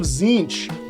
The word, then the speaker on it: Tzeentch: fantastic fantastic and you got your Disciples of zinch that's right that's how you pronounce that word for everyone who said it